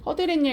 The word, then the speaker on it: 허드렛일: 순 우리말로 된 합성어고 앞말이 지금 모음으로 끝나고 지금 발음해 보면 허드렛일이라고 해서 여러분 지금 니은 소리가 덧나고 있어요.